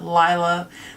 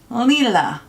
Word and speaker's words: Lila: Yes, I know you've probably heard a lot of people pronounce it Lila, but it is Lila, which means purple.